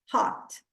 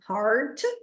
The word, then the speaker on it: heart: sheltered By Your Heart Heart bem aberto Hot como ela não pronuncia o r Heart como nós pronunciamos ela fala Hot but in and outside